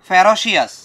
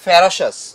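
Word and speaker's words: ferocious: They do সো in order to save themselves from the ফেরোশাস animals, from the ফেরোশাস, যদিও বানানটা হচ্ছে ফেরোশিয়াস কিন্তু উচ্চারণটা হবে ফেরোশাস।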